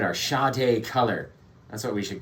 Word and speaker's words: Sade: It says Sade. Like, can you not read? I'm the dumb one? No. Yeah, no, it's because I was the dumb one. It's Sade. It's pronounced Sade.